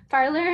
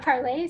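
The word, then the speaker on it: Parler: for uh telling me how to pronounce parlor i wasn't sure it was parlor not parley so that's that's good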